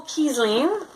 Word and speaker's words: Kiesling: It is designed by Michael Kiesling. Rhymes with Riesling, my favorite wine.